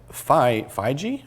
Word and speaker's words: Feige: about whether or not Kevin Feige, I think is actually how he pronounces his name, the director of this and one of the several other major films.